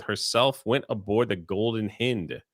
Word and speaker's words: Hind: went aboard the Golden Hind is that how you say the name no that's how the English pronounce it it's the golden hound hound spelled h n d The Golden Hind okay